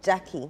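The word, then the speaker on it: Gyakie: Is it Jackie or Gaki? The the musician. Yes. Or Jackie. Jackie.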